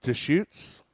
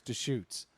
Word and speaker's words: Deschutes: Hey, how do I pronounce that brewery? I think it's Deschutes.